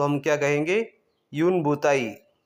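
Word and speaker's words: une bouteille: यूनबताई। यूनबताई। यहां पे मैंने आपके लिए प्रोनाउंस भी लिख दिया है।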